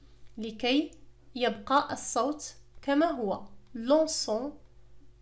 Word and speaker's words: lançons: يبقى الصوت كما هو lançons partageons. لأننا في هذه الحالة إذا لم نضيف la CD سينطق lançons وهذا خطأ. كذلك إذا لم نضيف E فإنها ستنطق partagon وهذا خطأ.